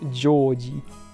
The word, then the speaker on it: George: yeah his name is I think it's pronounced Georgie it's like Georgina Georgie kind of thing but I guess it's pretty similar to George in English all right fair enough